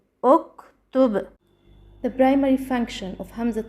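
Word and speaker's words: اُكْتُبْ: Ta is the third letter and the Ta has a Damma. So Hamzat al-Wasl also takes a Damma. So we pronounce uktub, uktub.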